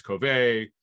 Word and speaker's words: Covey: slot this britain covey that's the way i was told it's pronounced uh running into someone from the eagles uh i was at practice last week said oh it's because no one seems to get it right it's covey whatever i'm gonna go with